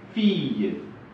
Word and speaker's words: fille: Et on dit file-le. Et on prononce fille.